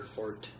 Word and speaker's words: forte: Stealth has not historically been our forte. Yeah, Which apparently is how that's pronounced.